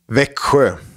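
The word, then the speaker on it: Växjö: the Lakers now I need you guys to pronounce what that actually VA xjo Vicker exactly what you said it's a double even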